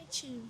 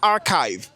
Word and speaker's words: archive: Il faut corriger la prononciation du CH. CH. Ça se prononce comme la chimie.